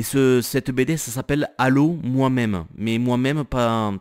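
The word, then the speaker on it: M'aime: Et cette BD ça s'appelle Allô moi-même, mais moi-même pas, ça s'écrit pas comme tu le penses, ça s'écrit M apostrophe A-I-M-E, du verbe aimer.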